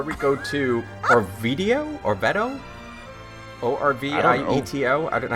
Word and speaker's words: Orvieto: Orvieto. That- Is it in France? Is it in Italy? Yes. That's be like an Orvieto. Where's an A? T-E-O is Teo in Italian. That's how they pronounce that. Orvieto.